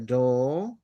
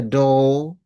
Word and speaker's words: door: And the door again British itu mereka tidak akan pronounce R-nya ya. The door eh apa namanya?